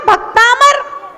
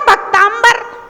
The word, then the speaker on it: भक्तामर: अब समस्या ये है कि लिखा तो है भक्तामर और आदमी उसमें पढ़ रहा है भक्तांबर।